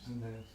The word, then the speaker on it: Annas: Is there an I in it? No, it's just A-N-N-A-S. Oh, yeah. So it's Annas? Annas.